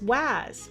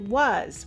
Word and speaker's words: was: So when they see the word was, they might try to sound it out as was, but we actually pronounce it was, which doesn't follow the rule at all.